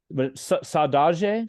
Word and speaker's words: saudade: But it's saudade, Saudade.